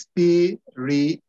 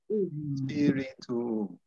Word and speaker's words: spirituum: be spiritus, spiritus, spiritus, spirituum. Don't forget, we always need to pronounce each vowel, okay? So it's spirituum, spirituum.